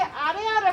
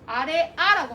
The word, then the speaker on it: 아래아: 아래아라고 합니다. 아래아. 아래아는 아와 오의 중간 발음. 아와 오의 중간 발음. 아오? 그지? 그래서 뭐야? 보통 그냥 아로 발음을 해.